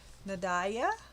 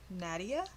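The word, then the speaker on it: Nadiya: i don't know how to say this artist nadalia nadia i do yep n-a-d-i-y-a v-a-s-i-l-k-o-v-a is offering a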